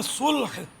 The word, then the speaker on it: صلح: اچھا، یہ ایک غلط تلفظ ہمارے یہاں بہت عام ہے، سلوح. قرآن میں صلح، لام جو ہے نا وہ ساکن ہے قرآن کریم میں. وَالصُّلْحُ خیر، وَالصُّلُوحُ خیر تو نہیں ہے.